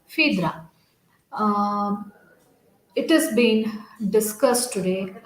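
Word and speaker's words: Phèdre: g rasin which is entitled fiatra or fidra you can pronounce either way but the right way of pronunciation is fidra it has been discussed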